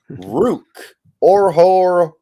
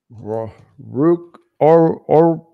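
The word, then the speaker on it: Ruke Orhorhoro: It is Rook Orhorhoro. Rook Orhorhoro.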